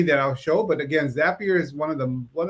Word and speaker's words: Zapier: know and it's it's it's spelled z-a-p-i-e-r um it's a zapier like if you want to be happier and what makes it